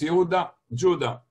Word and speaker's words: Yehuda: so people mistakenly call him Yehuda, but it's Yehuda, Judah.